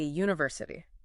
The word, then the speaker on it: university: Starts with the letter U, a vowel, but the sound is you, which is actually a consonant sound. So, it's a university.